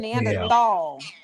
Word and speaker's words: Neanderthal: So it's Neanderthal. Yeah, it's Neandthal with a T or a D. T I pronounc it Nandthal.